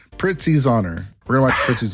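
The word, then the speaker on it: Prizzi's Honor: Think of it in your mind. Pritzy. Pritzy. That's how... Pritzy. Oh, there's like a T in it.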